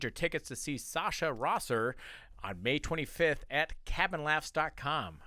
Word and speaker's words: Rosser: Rosser, Yeah, yeah, Rosser. I said Rosser? You said Rossner.